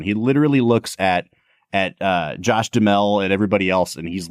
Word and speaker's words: Duhamel: I've always heard him say it Duhamel. Like Duhamel. Yeah. Okay, so Josh Duhamel, I believe is how it's actually pronounced.